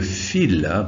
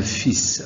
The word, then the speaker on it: fil: sa ceinture donc di on dit le fil pas le fils alors le fils ça veut dire Ibn là on dit fil ça s'écrit de la même manière crayon est descendu dans